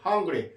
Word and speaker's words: hungry: 이게 한글인지 헝글인지 근데 hungry. 실제 아와 어의 중간 발음입니다.